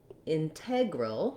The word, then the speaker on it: integral: pronunciation we also have integral which has the um stress on the second syllable and in that case the letter e says the vowel like red or regular and you can compare